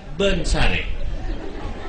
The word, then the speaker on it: Wonosari: Bapak tulis Wonosari, orang sini baca Bensare.